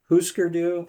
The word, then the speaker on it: Hüsker Dü: Yeah, I think it's Huskerdu? pronounced huskerdu. Hüsker Dü.